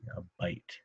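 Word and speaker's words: bight: That's a bite of rope, and it's spelled B-I-G-H-T, a bite, right there.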